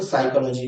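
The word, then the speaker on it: psychology: कुछ शब्द ऐसे होते हैं जिनमें साइलेंट लेटर्स होते हैं जिसमें एक शब्द साइकोलॉजी भी है जिसमें आपको पी को साइलेंट रखना होता है और फिर आपको पढ़ना होता है।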